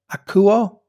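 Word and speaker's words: ἀκούω: Now, the word "you hear" in Greek is 191, and it's pronounced akuo, and it's actually the root word for the word acoustics.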